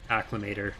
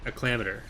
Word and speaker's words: Acclamator: Clone Wars mod playthrough, angry about how I pronounced Acclimator 2 years ago. Yes, Commander. Like, acclimator. I prefer saying acclamator. That's just how I said it when I was a kid. It feels more comfortable to me.